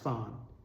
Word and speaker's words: fan: Things that double your score like this are called fans. It's spelled F-A-N, but it's pronounced fawn.